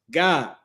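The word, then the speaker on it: Gad: Tribe of Gag, their name is pronounced God, right? or how you would say gay or god.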